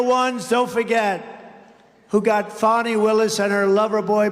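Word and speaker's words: Fani: It's called Fanny. You have to pronounce Fonnie. I don't know how she gets She should add a little U in there someplace if she wants people to call her.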